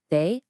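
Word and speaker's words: 大: It's pronounced they, and it means great or large.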